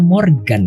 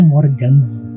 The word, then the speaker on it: Morgan: Kamu bilang nama Morgans itu aku jadi kepikiran, ternyata manggil namanya Morgan ya? Iya, Morgan. Oke. Aku dari tadi bacanya soalnya Morgans 93. Ternyata bacanya Morgan.